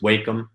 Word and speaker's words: Wacom: and I use I think it's pronounced Wacom tablet.